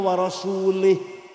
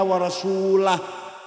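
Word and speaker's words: ورسولُه: Wa annallaha bari'um minal musyrikina wa rasulih. Allah tidak melindungi orang musyrik dan tidak melindungi Rasulullah. Salah. Karena baca wa rasulih. Yang benar bacanya wa annallaha bari'um minal musyrikina wa rasulah.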